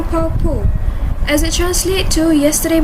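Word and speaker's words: 跑步: The first one, pronounce the word 跑步 here as if the letter B is P. So, 跑步.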